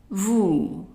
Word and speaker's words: vous: Now the next word here has OU, that is pronounced as a long OO. And that's what we saw in the word bonjour, OO. So you put your lips together, OO. So how would we pronounce it? Vous, vous. And the S is silent.